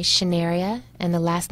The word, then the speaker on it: Schnearia: find me on LinkedIn my name is spelled SCH n EA RI a shin area and the last name